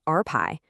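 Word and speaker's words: rπ: The first part is something called R pi, And yeah, that's pronounced RPi.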